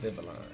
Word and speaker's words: Vivilon: That's how you say it, Vivilon.